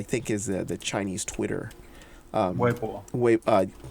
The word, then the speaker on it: Weibo: Weibo. There you go. You have the proper pronunciation of it.